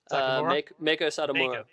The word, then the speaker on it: Meiko Satomura: Pronounce her name again. I don't want to brutalize it. Meiko Satomura.